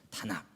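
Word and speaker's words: תנ״ך: 그 사람들은 유대인들한테 성경을 달라라고 할 때 너의 성경이라고 할 때 그 성경이라는 말은 타나크입니다. 타낙이라고 읽죠. 타낙.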